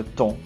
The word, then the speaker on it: tond: Le troisième mot, voilà, on voit un D extra à la fin du mot, mais normalement, on ne prononce pas les consonnes qui se trouvent à la fin d'un mot.